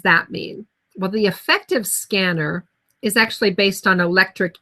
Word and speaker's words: SCENAR: there you have it scanner is self-controlled auron neuro adaptive regulator now we pronounce it like scanner because as in a way this is what the device does it scans the body